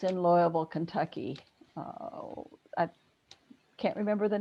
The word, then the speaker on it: Louisville: lot of summers in outside louisville yeah okay cool two-syllable word exactly yeah for sure so